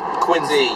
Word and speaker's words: Quincy: And let's pronounce it right. Quincy. Like wicked Z.